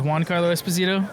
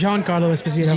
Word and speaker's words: Giancarlo Esposito: I used to think, until I'd seen it written, I thought his name was Giancarlo Esposito. It's Giancarlo Esposito. Yeah. So is that how you say it, Jean? Giancarlo Esposito. Gian?